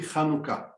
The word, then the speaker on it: Hanukkah: Yes, because the English language missed the letter Cha that we pronounce it from our throat, Cha, and Cha could be pronounced as CH or H. It should be Hanukkah.